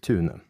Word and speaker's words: Thun: My full name is now Thun. In Norwegian parlance, that is pronounced Thune.